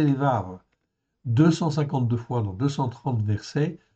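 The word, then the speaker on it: לבב: Ok, donc c'est lévab ou lévave. On peut prononcer lévave.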